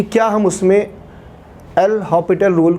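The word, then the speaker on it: L'Hôpital: क्या हम उसमें एल हॉपिटल रूल, कुछ लोग हॉस्पिटल भी कहते हैं, एक्चुअली उसे हॉपिटल बोला जाता है, एस साइलेंट होता है, फिर भी एल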